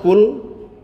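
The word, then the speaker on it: كل: sudah jauh sekali ya hanya beda kaf dengan qf itu jauh ya kalau ee ul itu katakanlah kalau kul makanlah ya adoh toh ya makanya harus benar pengucapannya it makhrajnya harus benar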